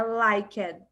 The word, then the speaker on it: liked: E esses EDs, a gente não vai falar liked, pronunciando como se tivesse um I no final do D. É liked. O D, ele morre aqui com os dentes na língua. Então, loved, lied, arrived, liked.